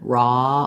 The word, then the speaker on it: raw: What we have in raw is a rounded ah vowel. So it's just like the same as in saw or lawn. We want rounding. My jaw's a little bit open, raw, ah, versus roll, ah, o. When I go to o, I'm more rounded and my jaw is a little more closed.